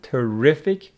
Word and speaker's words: terrific: have these words like terrible with the stress on the first syllable terrific on the second which means wonderful make